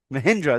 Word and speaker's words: Mahindra: Wait, what'd you just call it? Machida, or am I saying it wrong? Or Mahindra. Mahindra? There you go.